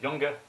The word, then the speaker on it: Young: It's in Europe, I pronounce it Junge, but in the US, it's basically the American version of Young.